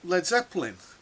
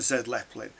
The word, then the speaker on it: Led Zeppelin: was saying, yeah, but well, what about like Led Zeppelin? And they said, well, I don't care about Zed Zeppelin, and he was deliberately saying it wrong.